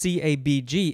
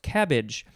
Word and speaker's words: CABG: And when I finished recording that episode, my wife said, it's not pronounced CABG, it's actually pronounced cabbage.